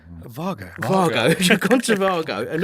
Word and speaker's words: Wago: You've gone to, how do you say it? Vago.